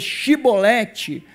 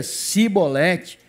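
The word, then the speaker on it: Chibolete: Então lhe diziam, dize pois Shibolete, porém ele dizia Sibolete, porque eu não podia pronunciar assim bem.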